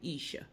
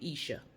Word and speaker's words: Esha: but I think that you pronounce her name Isha if I'm mispronouncing it